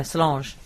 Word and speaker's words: Solange: Yeah, Solange.